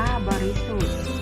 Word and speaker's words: บริสุทธิ์: ประกอบ สลัก นะ คะ คำ ว่า บริสุทธิ์ อ่าน ว่า บริสุทธิ์ หมาย ถึง แท้ ไม่